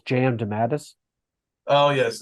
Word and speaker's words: DeMatteis: Last time we had him on, I believe it was DeMatteis. It is DeMatteis.